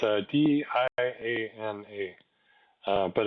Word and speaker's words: Dana: because it's spelled kind of weird it's a d a n a uh but it's apparently pronounced Dana so she says um so at